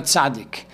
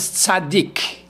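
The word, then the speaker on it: צדיק: There are two ways of pronouncing this letter. One is Tzadi, and one is Tzadik.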